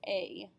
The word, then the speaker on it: est: Note that the EST is pronounced A, just like we had ET the other day in class.